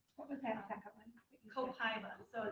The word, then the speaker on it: copaiba: Copaiba, so it's spelled C-O-P, like P as in Paul, A-I, B as in boy, A, Copaiba.